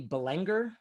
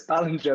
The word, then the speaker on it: Ballinger: I used to say Robbie Ballinger, but is it Robbie Belenger? No, it's Ballinger, but I thought it sounded way better.